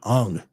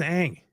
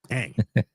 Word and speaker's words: Aang: Like he even screwed up how you pronounce Aang's name, right? Dude, like throughout the entire movie, they kept calling him Ung. Like, it's not his name. His name is Aang. Aang.